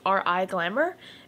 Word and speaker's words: Riglamour: It's a lace front wig, and it is from the company called Riglamour. I think I said it right. It's Riglamour.